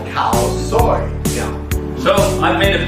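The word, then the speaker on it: Khao soi: It's called cow soy.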